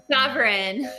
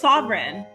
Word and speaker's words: Savaryn: Savaryn. Yeah, like a king is sovereign, but it's spelled differently. That's usually how I explain it, like a sovereign monarch. Oh, cool. So it's Savaryn.